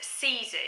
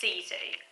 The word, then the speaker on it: sisu: Nathan culture and the sort philosophy and it's pronounced Caesar you have to remember the quick way pronouncing it because it's not phonetic it's some spell s is you but it's actually pronounced cz which roughly translates as courage fortitude and not